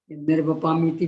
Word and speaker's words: निर्वपामि: ज्ञानाचार के भेदों में सबसे पहला शब्द, आप बिल्कुल सही उच्चारण की, निर्वपामिति भी है ना, बोलिए जरा, उससे बोलिए, बोल, निर्वपामिति, मी में दीर्घ और ती में ह्रस्व, तो चलता रहता उल्टा